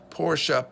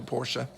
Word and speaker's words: Porsche: actor that he is he needs to learn how to pronounce Porsche that got on my nerves that he called Porsche Porsche and it's a German last name Bootsy ferdinand porsche started